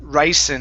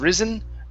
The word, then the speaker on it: ricin: toxin one more time this is ricin instead of risen ricin ryzen rice give me an unvoiced s rice ricin rice okay all right very